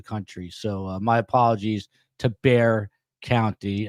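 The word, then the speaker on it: Bexar: contact by the way it's Bear County and um not whatever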